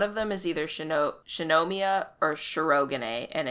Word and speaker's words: Shinomiya: to just read it that it it makes sense in how just you would read it in english like shinomiya is just shinomiya like you don't you don't really think about it but they say it like shanomia and it's like i'm going to kill you all this is that's not how anyone says anything it and it's so weird